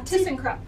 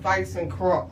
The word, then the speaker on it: ThyssenKrupp: that was an interesting a tsen crup oh okay at least you know how to say it I I call them th and Crum no this is a t cop yeah it's German oh okay all right